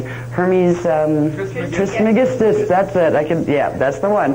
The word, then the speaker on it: Hermes Trismegistus: He was, I can never pronounce that name, Hermes Trismegistus, that's it, that's the one, Hermes Trismegistus.